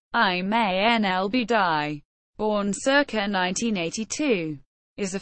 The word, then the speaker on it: Iman al-Obeidi: Iman al-Obeidi, also spelled Iman al-Obeidi, Arabic, pronounced Iman al-Obeidy, born circa 1982, is a former Libyan postgraduate law student who received worldwide media attention during the Libyan Civil War.